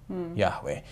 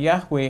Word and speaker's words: Yahweh: the rest of the Hebrew Bible as Yahweh Yahweh um and and Yahweh is the um best estimate of how the